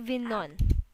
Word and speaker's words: Avignon: Oh, yeah, Avin, I'm so sorry. That's Avignon. Av, Avignon.